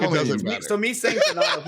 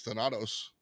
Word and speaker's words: Thanatos: I was wrong. It's Thanatos. Yeah, I don't understand. I don't understand why people always have a problem with it. I need like a really Italian, like, hey, it's Thanatos.